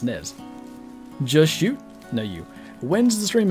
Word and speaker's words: Nez Perce: The Z is silent, and it sounds like pate? Nez Perce Valley? I swear the grandpa narrator guys pronounce it as Nez.